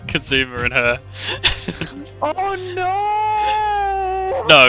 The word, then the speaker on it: Kazuma: Soggy Kazuma.